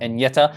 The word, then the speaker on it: Agnetha: to pronounce her name it's pronounced like saying any and yeta together fast and yeta so i did watch a video of that but you know what i've heard people say agnetha so maybe i was